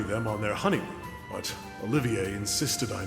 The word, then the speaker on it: Olivier: on their honeymoon, but Olivier insisted I not go. Okay, I'm chiming in here because for the longest time they called him Olivier, which... If he's doing the French pronunciation, he's doing it correct.